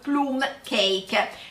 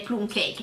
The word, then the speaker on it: plum cake: E quinta parola di oggi è plum cake con una pronuncia ancora all'italiana, perché teoricamente in inglese andrebbe pronunciato come plum cake, ma noi lo pronunciamo plum cake.